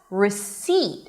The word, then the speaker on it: receipt: R and the second syllable which is the primary stress receipt is an s a high e and a hel t at the end.